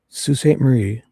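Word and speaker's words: Sault Ste. Marie: Salt and it's for the I even wrote it on Teresa's Sue St. Marie.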